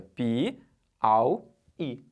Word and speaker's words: Piauí: Vamos separar a sílaba de Piauí? Piauí. Beleza? Não pode ser tudo junto lá, é Piauí. Não vai ficar Piauí. Não pode ser um Auí junto, é Pi-au-i. Tá separado.